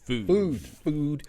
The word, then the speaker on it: Füd: Food. It says FUD, but it's pronounced. You see, it's got the 2 dots there. It's pronounced food.